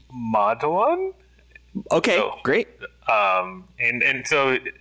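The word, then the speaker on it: Madhavan: It's pronounced, I'm so sorry to correct you, but please correct me. Please. I want to do this right. It's Madhaven.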